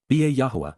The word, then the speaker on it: Yahowah: the home, Baith, in the household, of Yahuwah, Yahuwah, in the proper pronunciation of the name of Eloah, God as